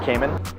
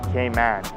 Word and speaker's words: Cayman: all it doesn't snow some people say caiman there's not really a wrong way it's just the the locals say caiman if you're from here they say grand cayman they accentuate the man not caymans cayman islands